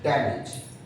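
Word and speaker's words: damage: डैमेज, हम generally as को देख के एज पढ़ने लगते हैं, डैमेज, मैनेज, ड्रेनेज। ना, इट्स a wrong. The correct pronunciation of these words are डैमेज, मैनेज, okay, ड्रेनेज।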